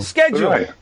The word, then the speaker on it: schedule: Oh schedule schedule schedule schedule the US version is schedule schedule schedule schedule schedule thanks very much um I was wrong I'm going to say schedule schedule from now on it's